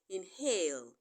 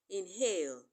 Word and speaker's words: inhale: is also silent but the H in inhale sounds it is not silence